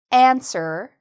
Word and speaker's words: answer: Let's answer the question. And notice I'm saying the first part louder. Let's answer the question. So I'm putting more stress on the first part of this. Answer.